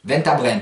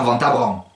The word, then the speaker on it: Ventabren: Ensuite, le groupe EN. Alors là, il n'y a pas d'ambiguïté en provençal, il se prononce N. Souvenez-vous par exemple de la ville de Ventabren. Vous en avez deux. Ventabren, pas Ventabran.